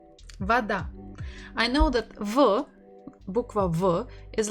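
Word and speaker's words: вода: ways so first is Voda does it sound as they said no so let's try again weather it does sound that so we stress ah not o and that's why the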